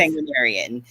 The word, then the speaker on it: sanguinarian: s sangu how do you say that again sangan sarian yes sanguinarian which is a term I guess that they